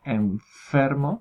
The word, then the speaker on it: enfermo: palabra enfermo, por ejemplo, si lo pronunciamos despacio y fijándonos, nos vamos a dar cuenta que la N, en verdad, la supuesta N, ya se está pronunciando en ese mismo lugar, es decir, hay un contacto o una aproximación, un estrechamiento entre el labio inferior y los incisivos superiores, ¿no?